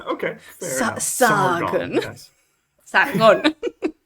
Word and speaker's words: Sargon: Sargon. Con acento en la O.